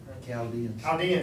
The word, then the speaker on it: Chaldeans: go into Jerusalem to get away from the Chaldean, is that how you pronounce that? And Armenian armies." So we have been living in Jerusalem. Yeah, Chaldeans, that's it. I always forget how to pronounce that.